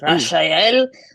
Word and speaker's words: Rachel: going to start over the ethnic pronunciation for my name is Rashel um and you know